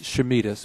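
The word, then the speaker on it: Chameides: Would you pronounce it for me, Doctor? It's Chamides, but I'm using lots of different variations, as you might expect.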